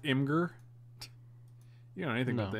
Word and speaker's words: Imgur: oh we got an imager link in the chat oh it's pronounced imgur you know anything about